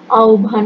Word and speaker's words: আহ্বান: সম্পাদনাকরণ হবে সবুজ পত্র আহ্বান শব্দটির উচ্চারণ আহ্বান হবে শিক্ষার্থীরা এ পাঠ শেষে